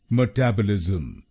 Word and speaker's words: metabolism: इसकी सही प्रोनाउंसिएशन है मेटाबॉलिज्म। मेटाबॉलिज्म। इस शब्द में 5 शब्दांश हैं। पहला शब्दांश है ME, दूसरा शब्दांश है TAB, तीसरा शब्दांश है O, चौथा शब्दांश है LIS और आखिरी शब्दांश है M।